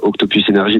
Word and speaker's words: Octopus Energy: C'est la régie pub d'énergie qui nous dit bien le prononcer. Vous savez, quand ils nous mettent un mail, bien le prononcer en anglais.